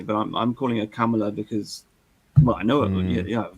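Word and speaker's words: Kamala: India for many years camela is an Indian word so I just say C it actually means Lotus so so you pronounce it like a camel with an a camela well that's the way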